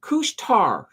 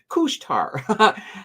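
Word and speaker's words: Couche-Tard: telling me that I've been saying it wrong kushar kushar there 2.13% up um bmo's looking good up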